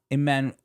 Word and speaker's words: Emmanuel: Emmanuel.